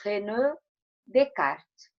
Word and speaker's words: René Descartes: A Pro só vai fazer um comentário aqui que nós escrevemos René Descartes, mas pronunciamos René Descartes, porque é um nome francês, ok?